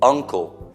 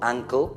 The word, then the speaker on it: uncle: Uncle, zio, is U inglese o, uncle, non uncle, perché uncle è la caviglia.